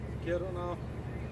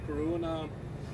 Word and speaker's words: Kiruna: stations, regular stations in Kiruna or Kiruna, as American would say it. Or at least the Americans I know, how they have pronounced the name, the city name, Kiruna.